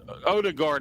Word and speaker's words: Odegaard: Odegaard. Did I pronounce that right? I'm sorry. You did great. That's perfect.